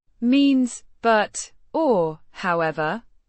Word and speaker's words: och: Means the cables pronounced Cobbler cables is the plural noun and n is the definite plural suffix o means and pronounced oak like a softer version of the English.